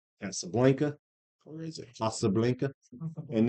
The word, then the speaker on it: Casablanca: And then you get My Fair Lady, Did you take Spanish? My Fair Lady, We don't even have the pronunciation correct. Blanca, Casablanca. Say it then, Spanish boy. Casablanca. All right, so that movie, if you want to say it, They don't say A's. They say ah.